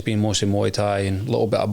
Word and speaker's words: Muay Thai: How do you pronounce it? Muay Thai. Was it Moy? Muay Thai.